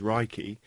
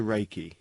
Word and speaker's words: reiki: meaning universal life force although the proper japanese pronunciation is reiki it has been westernized to reiki ray means universal omnipresent present everywhere at the